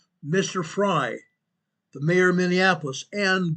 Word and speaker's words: Frey: Mr. Frey, RF fy is his name. He pronounces it Fry. Mr. Fry, the mayor of Minneapolis and Governor Waltz, guess what?